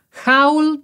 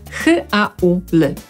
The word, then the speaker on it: haul: Brytyjczycy, Amerykanie, shopping, zapisujemy h-a-u-l. Brytyjczycy wymówią je jako haul, a Amerykanie haul. To brytyjskie u to jest tak naprawdę o, które jest trochę podobne do u, haul, ale nadal jest to o.